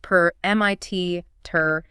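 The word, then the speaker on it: permittere: The word permission comes from the Latin root permitter, spelled P-E-R-M-I-T-T-E-R-E, but pronounced per-M-I-T-ter-A.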